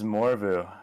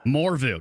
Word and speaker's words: Morveu: It is Morveu. Morveu. No AU. Morveu. Got it.